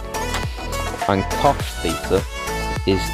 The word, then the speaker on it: cosh: I pronounce them as shine, cosh, and I pronounce tan h as than. You might also hear them called cinch, cotch, and tanch, with a CH in there, no reason why.